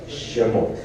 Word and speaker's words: Shemot: en el libro de Éxodo, que realmente se pronuncia correctamente, Shemot.